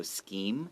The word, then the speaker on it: scheme: Right, and scheme, even though it has CH, it's pronounced with a C, so scheme.